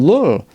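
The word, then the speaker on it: Ramon Llull: I know some people want to pronounce it you or whatever because of the double L. Let's just go with Lull for ease of people reading that word on the screen in the year that I'm recording this.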